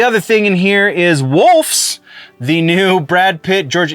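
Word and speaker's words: Wolfs: thing in here is wolfes the new Brad Pit George yeah I did not say that incorrectly W lfs is the how the movie is spelled but the new Brad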